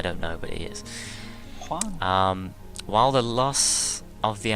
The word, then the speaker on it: Juan: you're meant to put a lot of emphasis on the H. Yeah. It's Juan, even though there's no H in there.